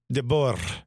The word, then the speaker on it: De Boer: De Boer. Yeah. So you roll the R.